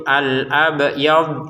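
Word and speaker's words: الأبيض: Huruf ba-nya saja yang dipantulkan ya, huruf dotnya jangan. Jadi kita bacanya itu al-abyad seperti itu. Huruf dotnya jangan dipantulkan. Sekali lagi, jangan dipantulkan huruf dotnya.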